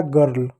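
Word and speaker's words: girl: जी का बच्चों ग पढ़ेंगे। आई का औ पढ़ेंगे। औ की मात्रा नहीं तो छोड़ दो। आर का र पढ़ेंगे। एल का ल तो हो जाएगा गर्ल।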